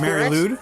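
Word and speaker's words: Mari Lwyd: shows up as a Mary Lou Mary Lou's is how you say it okay you know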